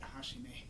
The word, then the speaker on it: Hajime: Hajime. Hajime yo. Remember when I was in karate, they pronounced it Hashime. That might be an Okinawa thing.